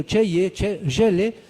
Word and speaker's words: Chelle: Mi mismo apellido, Chelle, se pronunciaría así, es un apellido francés.